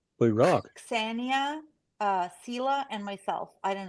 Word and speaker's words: Ksenia: I called her the American way, Xenia, but it's actually Ksenia.